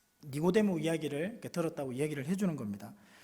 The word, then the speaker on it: 니고데모: 엄마와 이야기를 할 때 니고데모 이야기를 들었다고 이야기를 해주는 겁니다. 니고데모가 어떤 이야기를 했는지를 이렇게 엄마한테 설명하는데, 이게 니고데모라는 이 발음이 잘 안 돼요, 미나. 그래서 니고네모라고 이렇게 얘기하더라고요.